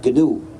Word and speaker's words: GNU: de nuestro sistema, en inglés es muy importante pronunciarlo GNU, no seguir el diccionario, porque si dices the new system, te equivocas, porque nuestro sistema ya no es nuevo. Pero no es the new system, pero sigue siendo the GNU system.